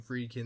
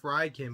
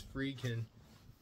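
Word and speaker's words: Friedkin: the late William fryin or fredin yeah William fredin that's how you pronounce his name I keep saying fryin but it's frein uh I haven't watched this one but I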